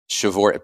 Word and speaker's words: Przeworski: is Adam Przeworski, and I'll spell his last name because it's not how it sounds. It's p r z e w o r s k i. Przeworski, pronounce Przeworski because that's how languages roll.